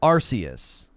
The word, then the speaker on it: Arceus: the games we like arceus emphasis on r arceus okay pokemon legends arceus